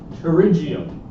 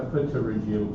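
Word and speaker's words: pterygium: So the first disease we're going to talk about is a terigium. Terigium. Okay. Again the P is silent just like intosis. Tigium. Not a terriium just terigium.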